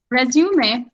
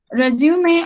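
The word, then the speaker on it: résumé: Resume is another topic. Resume or resume, both the way you can pronounce it.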